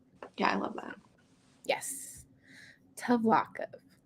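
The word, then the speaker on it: Tvlakv: I wonder how the slave master Tavlakov's name was pronounced in the audiobook. Oh, Tavlakov.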